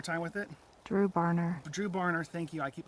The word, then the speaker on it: Dru Barner: out one more time with it through Bonner drew barner thank you I keep mispronounce that drew barn or campground in the